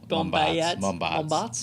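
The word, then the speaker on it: Mombaerts: Because you might find it hard to pronounce his last name. Eric Mombarts. Is that right? Mombarts.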